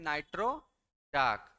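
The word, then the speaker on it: Nitrochalk: फिर आगे लिखें नाइट्रोचाक नाइट्रोलाइन नाइट्रो चाक नाइट्रोचाक चाक की spelling C एच ए एल के इसमें से एल जो होता है क्या होता है साइलेंट होता है नाइट्रो चाक ये सब जो होता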